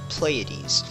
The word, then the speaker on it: Pleiades: the map of okay Pleiades that's what you guys told me you pronounce Pleiades I'm gonna be coming